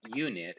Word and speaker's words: unit: last lesson together and we said that unit is a word that starts with a consonant sound not a vowel sound why because the you